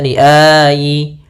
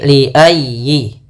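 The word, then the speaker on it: لأي: Jangan dibaca liayi atau liayi. Ah jangan tapi liayyi.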